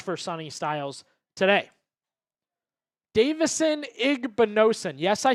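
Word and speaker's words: Igbinosun: Davidson Igbonosen. Yes, I said it right. Igbonosen.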